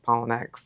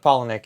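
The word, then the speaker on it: Palahniuk: like kind of reach out to the Chuck Pollen Is that how you say it? Chuck Pollenic.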